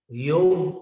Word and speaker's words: योग: लोग योगा बोलते हैं, वो ठीक है, उनको कौन रोक सकता है, वो योगा बोलते हैं। और यहां पर योग, ग में अ है, योग।